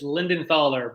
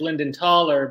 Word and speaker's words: Lindenthaler: well for pete it's lindenthaler but uh unless you're from the old country then it's linden taller but it's gotten americanized